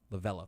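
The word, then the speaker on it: Lovullo: tori levolu lavula you might go it's uh lavello there we go thanks baseball reference pronunciation's on this show you go okay well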